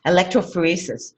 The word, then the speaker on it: electrophoresis: called electrophoresis. Electrophoresis.